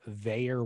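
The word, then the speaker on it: Vaer: Tools to Live By, brought to you by Veyer Watches.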